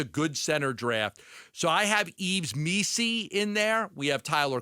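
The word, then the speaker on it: Yves Missi: Yves Messi? No, Yves No, Missy. not Messi, Okay, not good. the soccer player. It's Missy.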